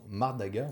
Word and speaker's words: Mardaga: intéressant et très bien construit d'ailleurs, aux éditions Mardaga. Oui, Ça se prononce comme ça, Mardaga?